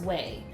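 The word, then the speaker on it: Ouai: looked up the pronunciation and it says it's pronounced way so o I was so wrong I don't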